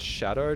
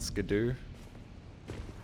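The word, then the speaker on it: Scadu: It's pronounced shadow, not scadoo.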